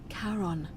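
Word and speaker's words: Charon: name you heard wasn't Karen it was c h a r o n as in karon the Fairman of the Dead karon who in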